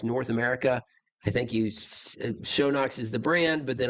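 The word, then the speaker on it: Schönox: It's HPS Shownox. Pronounced ER. The umlaut, little dots on the logo.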